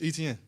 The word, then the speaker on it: Etienne: So, I'm like man it's Etienne. Like how you say it is how you say it.